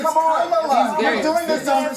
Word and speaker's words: Kamala: Let's start, Lefties, with this almighty group meltdown on CNN because Nancy Mace allegedly mispronounced Queen Kamala's name. Watch this demented carry-on. And Kamala Harris is Kamala.